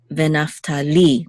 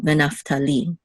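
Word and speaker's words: וְנַפְתָּלִי: So the accent is on venaftali, the last syllable, venaftali. Okay, so this is a gimel with a kamatz and the dalet together, we say gad.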